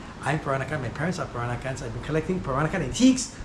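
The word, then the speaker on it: Peranakan: I live here and I come from the very unique culture in Singapore called the Piranakan culture. It's spelled P E R A N A K A N.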